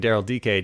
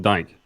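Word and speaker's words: Darryl Dike: your Gold Cup fill and watching Daryl DK do his thing for the United States. Oh, is that how you say his name? DK, not Dyke. Yeah, it's Daryl DK.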